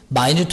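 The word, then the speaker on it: minute: 미세한 산 사수한 이런 뜻 발음 조심해라마뉴 따라합니다. 마뉴트 마이뉴트 하면 사소한 미세한 일이 두십니다.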